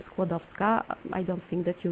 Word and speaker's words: Skłodowska: For its first part, you can remember the name of the modern sport, squash, and the letter W, the red one, in the second part, you need to pronounce like the first letter in the word Virginia, or for example, vet.